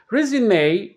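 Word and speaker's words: résumé: on the second syllable resume a is a noun it is something you send to employers when you are looking for a job the final e is an a sound the stress is on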